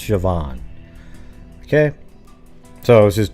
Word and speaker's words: Siobhan: once you know that it's pronounced shoban right right Colin but just looking at it most human beings aren't going to go oh yeah that's Siobhan right you admit that right